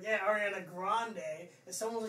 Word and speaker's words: Grande: I never forgot how to pronounce it, because, like, yeah, Ariana Grande.